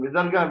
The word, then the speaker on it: Visarga: So these 5 letters, A, then Ka, Kha, Ga, Gha, then Ha, then Visarga. Visarga also has the same pronunciation of a H pronunciation for the Visarga.